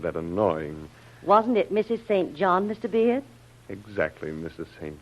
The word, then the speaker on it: St John: why not as a St John in the New Testament one of the disciples then Urban St John or singen as the British pronounce it then there's I never